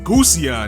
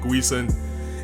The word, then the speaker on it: Gusion: Also for the pronunciation of his Gundam, which is the Gusion, and I've been calling it Guisen.